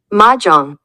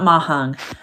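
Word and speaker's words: mahjong: see no it's not there it is maang maang not mahong ma Jang we're all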